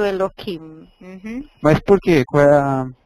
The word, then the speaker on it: Elohim: lê Eloim é isso quando eu leio o nome de Deus eu leio Eloim Uhum mas por que